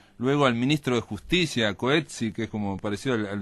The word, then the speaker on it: Coetzee: Yo entrevisté a este señor, que se llama, bueno, se pronuncia Coetzee, es la pronunciación correcta, igual que el Premio Nobel de Literatura, y él cuando hablaba